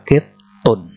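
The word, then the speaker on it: قِطٌّ: Nah, perhatikan di pengucapan kittun itu ada tasdid di huruf to-nya, ya. Karena seharusnya di situ ada ada dua huruf to di situ. Jadi dijadikan satu dengan tasdidnya. Dibaca kittun. Jadi hadza kittun.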